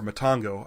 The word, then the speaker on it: Matango: a Google search for Matango or Matango. I think it's pronounced both ways. I think they say Matango in the movie, so I'll stick with that. So I did a Google search for Matango and Gilligan's Island.